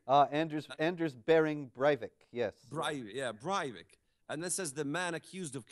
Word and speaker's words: Breivik: of the world's greatest terrorists in Europe Andrew brivik I don't even know how to pronounce his name uh Anders Anders bearing Breivik yes yeah and this is the man accused